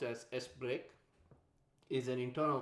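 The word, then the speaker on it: sbrk: used for that sbr k is which is pronounced as s break is an internal call so in this case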